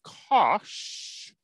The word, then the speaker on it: cosh: The hyperbolic cosine, written like this and pronounced cosh, is e to the x plus e to the negative x divided by 2.